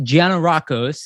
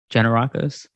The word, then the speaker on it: Gianarakos: Vasili Gianarakos, I said it right? Gianarakos?